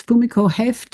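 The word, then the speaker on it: Fumiko Hoeft: That's a really good question and there's a category of kids I remember seeing I think it's Fumiko heft is how she her name is pronounced.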